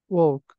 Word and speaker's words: walk: Walk. Bravo. Talk and walk. This word is Oh. Cloud. could. Cold. could. كمان Cold. بنلاحظ انه عندي ال Okay. قبل الحرف الاخير. This L is silent.